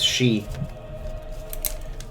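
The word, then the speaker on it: Sidhe: House Hawk, one of Renault's sworn houses, is the one that's commenting, weren't we going to remove House She?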